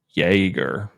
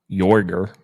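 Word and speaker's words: Jäger: Because you still say Jaeger. Like, it's not like it changes pronunciations like Jorger.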